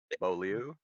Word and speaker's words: Bolu: Bolu. Bolu. That's how you say it. It's Bolu. and I was able to